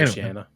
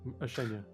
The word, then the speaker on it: Oceania: I cannot let that one slide because you guys ride me so hard for getting things mispronounced. Yeah. Yes, Mr. Oceana. Yeah, exactly. Oceania.